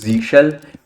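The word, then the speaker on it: zsh: by default it uses Z shell which is which people pronounce as zush as well but that is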